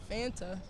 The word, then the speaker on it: Fanta: What rhymes with Fanta? Fanta. That's his My last name. Santa does. Santa.